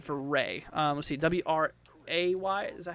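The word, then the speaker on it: Wray: Anything heading towards Ray, Colorado, says Crystal?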